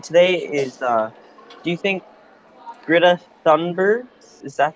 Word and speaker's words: Greta Thunberg: Our second question today is, do you think Greta Thunberg, is that how you say it? Yep, Greta Thunberg.